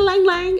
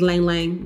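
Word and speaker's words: ylang-ylang: The heart of the fragrance has Bulgarian rose, or lang, is it lang lang? Is the Y silent? I don't wanna be ignorant, that's so annoying. I think it's lang lang, the Y is silent, jasmine, French peony, baby.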